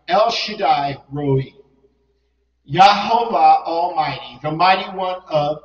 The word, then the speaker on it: Shaddai: because of the a when you see a I then it's I all right El Shaddai Almighty the mighty one